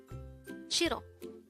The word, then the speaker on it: 싫어: Shirro. This is pronounced as a two syllable word. The first syllable is shir. The second syllable is o.